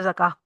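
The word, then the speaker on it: زكاة: फिर आप ते बोलेंगे, अदरवाइज सिंपल अगर आप बोल रहे हैं तो ज़का एंड का जो गोलता होता है वो साइलेंट हो जाता है।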